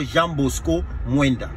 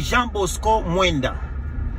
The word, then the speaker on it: Jean Bosco Mwenda: C'est d'abord Jean Bosco Mwenda. Je comprends que Denis Ipoupa a un problème de phonétique ainsi que de prononciation. C'est Jean Bosco Mwenda.